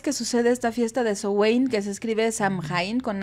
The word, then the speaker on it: Samhain: la verdad es que hay varias maneras en que se pronuncian lo vamos a escuchar de diferentes formas Pero bueno la más acercada es justo esta queso Wayne que es del gaélico Y bueno pues es